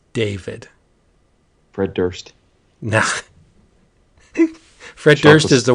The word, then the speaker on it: Durst: Fred Durst. Nah. Fred Durst is the worst. Chocolate starfish. It's so fitting that his name rhymes with worst.